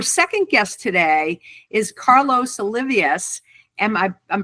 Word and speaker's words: Olivas: So our second guest today is Carlos Olivas. Am I pronouncing that last name correctly? Olivas.